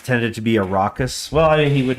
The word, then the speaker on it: Arrakis: Well, like that, Arrakis. Yeah, I think of it as, I know it's not a 2-syllable word, but I think of it as Iraq and then like hyphen is.